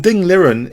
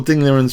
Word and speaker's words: Ding Liren: And Ding Liren is a fantastic example of such a player.